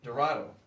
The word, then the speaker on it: Dorado: The final score of the game, 3-4, goals by Josh Major, Nicholas Longo, and, how do you say that name? Dorado, thank you, just as it looks.